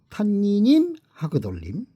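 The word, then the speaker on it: הַתַּנִּינִם הַגְּדֹלִים: 큰 바다 짐승, 히브리어 발음을 해보면은 탄니님 하그돌림이라고 읽습니다. 읽기가 좀 어렵네요. 탄니님 하그돌림.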